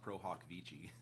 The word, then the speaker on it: pro hac vice: Well, I don't even want to tell you it's actually pronounced pro hoc vici.